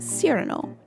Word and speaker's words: Cyrano: have this villager this i call him cyrano not cyrano or cyrano is sirano he is named after